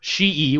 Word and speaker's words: Hsu: say absolutely yes in fact uh hsu doctor she would be the proper pronunciation dr su um he specifically said that